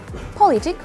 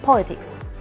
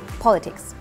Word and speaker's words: politics: would you say quality politic mmm neither is correct because you have to say it with s and the stress is on the first part politics one more time politics what about the adjective